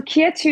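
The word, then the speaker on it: KYETU: your brand uh yeah so Kia 2 is spelled k-y-e-t-u and it's it's inspired from the French Kia too which means who are you um because a lot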